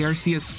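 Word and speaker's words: Arceus: I guess I'm saying it Archus when normally I say it Arus cuz technically Arus was the correct pronunciation until um Pokémon realized uh they accidentally made a Pokémon whose name started with a British slang word for something they did not like.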